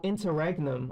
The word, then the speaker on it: interregnum: interregnum or something. Internegram. Oh wow, it's like double R's and nums Yeah, it's and interregnum. uh, oh interregnum. Oh, I've been saying it wrong.